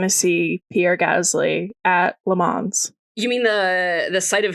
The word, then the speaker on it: Le Mans: There's no S. Okay. En Le Mans. En français. Le Mans. No S. Le Mans.